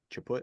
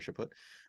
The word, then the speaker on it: Chaput: is is um Archbishop Charles CH chaput I think is how you say his name or chaput um evil preaches tolerance until